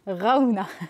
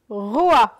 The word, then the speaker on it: Roa: Comment tu dis? Raouna. Putain, mais pas du tout. Vas-y. Allez, t'as droit à un deuxième essai. Ce n'est pas Raouna. Vas-y. Roa. Wow, Roa. Allez, bravo.